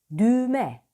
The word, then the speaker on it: düğme: artı ğ artı ünsüz burada ğ düşer düğme yazılır düğme okunur ünlüsüyle tekerlemeler ve tümceler